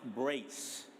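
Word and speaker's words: BRCE: So, uh, the first presenter is it's spelled B R C E, but it's pronounced Brace.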